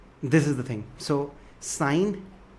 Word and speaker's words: sine: The full name is written as SINE, pronounced as sine alpha.